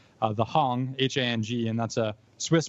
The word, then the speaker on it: Hang: So it looks like when you read it, it's H-A-N-G. It looks like hang. And I always thought it was hang too, but then I heard a lot of people say like hung drum, and now I get it. It's just the German pronunciation that I probably misheard and they just heard it as hung.